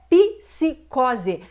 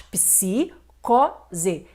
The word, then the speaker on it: psicose: O mesmo ocorre com a palavra psicose. Não é psicose, mas psicose.